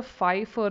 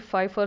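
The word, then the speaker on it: Pfeiffer: a syndrome called the Fifer syndrome the p is silent just like T and tsunami p is silent it's p fi FF R syndrome tarali Fifer syndrome CSF suture that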